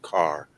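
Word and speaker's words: Keir: process there is is the scottish name of k-e-e-r which is pronounced car um and a lot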